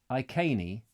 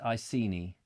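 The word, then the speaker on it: Iceni: these the Reggie something yes says Martin Lewis I cainy not icy knee because it's what is it i see i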